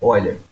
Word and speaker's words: Euler: Escreve Euler, mas a pronúncia é Euler.